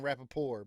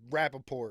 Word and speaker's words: Rappaport: question at the end everybody keeps saying rapapore but it's rapping yeah it's not like a french uh like like silent t at the end yeah he's a jew from like brooklyn it's rappaport right well weren't they